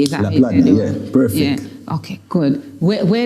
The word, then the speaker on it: Laplandia: Is that Laplandia, perfect.